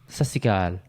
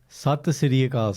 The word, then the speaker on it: Sat Sri Akal: It is time for me and Karan to have our weekly reunion on the podcast and say, Sasikal, how are we doing? Sat Sri Akal, say it properly.